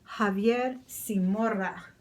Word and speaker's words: Javier Zamora: Indeed, there's Javier Zamora. Javier Zamora. I could say it in my Spanish pronunciation. Javier Zamora.